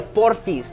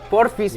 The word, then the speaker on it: Porfis: Chilling at Taqueria Porfis, man. Did I say that right? Yeah, you said it right. Porfis, man.